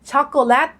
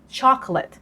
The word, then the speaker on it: chocolate: เหมือน เา้า นะ คะ แทน ที่ จะ พูด ช็อกโกแลต ก็ พูด ช็อกแลต I have Chocolate Ice Cream เนี่ย ใช่